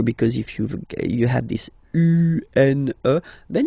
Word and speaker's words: une: Then the feminine article is here, and it's easier because if you have this U-N-E, then you pronounce it une. Okay? Masculine, un. Feminine form, une.